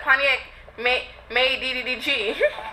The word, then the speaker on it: Pontiac MadeDDG: You said Pontiac MadeDDG. You had like a few extra D's in there.